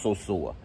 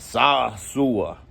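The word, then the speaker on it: Sosúa: especially you dudes that can't even pronounce so-sour calling it sasua it's so sore anyways today's not a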